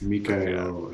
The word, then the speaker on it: Mikael: And he's like, oh, it's Mike, it's Meek, it's Mick, whatever you want to say. But yeah, he's French Canadian, and it's Mikael. For anyone that ever feels